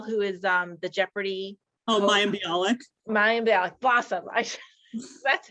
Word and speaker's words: Mayim Bialik: to have something about my Jewish identity, like Malaim I'm saying her name wrong. The gal who is the Jeopardy. Oh, Mayim Bialik.